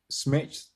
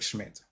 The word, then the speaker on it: Schmidt: So finally finishing up just leave you with a quote and some information from Eric Smith. Eric Schmidt. Yeah, that's it. Couldn't say his name right.